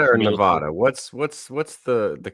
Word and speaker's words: Nevada: And you're going to Reno, you go just straight through Nevada? It's just through the desert, right? Just all government land. Is it Nevada or Nevada? What's the correct way to say it? Nevada.